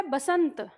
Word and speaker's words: बसंत: गाने भी सुनोगे तो बसंत बहार, ब का उच्चारण होता है। तो आपका सही शब्द है बसंत, लेकिन आयोग वसंत मानता है कि नहीं वसंत है।